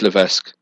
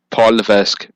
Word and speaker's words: Levesque: lisu it's LC it's Levesque no it's not he doesn't pronounce the S go to the an